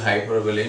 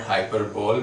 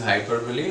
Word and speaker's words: hyperbole: is exaggeration or hyperbole yes the word is pronounced is hyperbole not hyperbole because you really might have heard people speaking